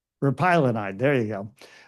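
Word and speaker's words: repaglinide: well to this drug that I can never pronounce right but Ernest will tell you repinolide but repylonide there you go all right so I do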